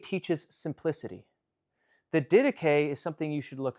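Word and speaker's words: Didache: The dedicay teaches simplicity. The dedicay is something you should look up if you're not familiar with it already.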